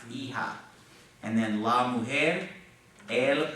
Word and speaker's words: hija: La hija. You don't pronounce the H though, just la hija.